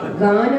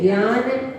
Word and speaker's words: गान: गान बोलना होता है, लेकिन बोलते हैं ज्ञान, ये ऐसा नहीं, गान रवा खुली।